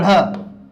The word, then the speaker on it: ढ़: आप उच्चारण करके देखिए, तो जब हम इनका उच्चारण करेंगे, इसको जब बोलेंगे ढ़, तो ढ़ बोलेंगे तो हमारी जीभ ऊपर मूर्धा से स्पर्श होती है लेकिन झटके से नीचे गिरेगी।